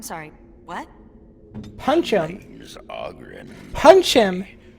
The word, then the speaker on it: Oghren: Name's Oghren. Punch him. But the ladies pronounce it Oghren.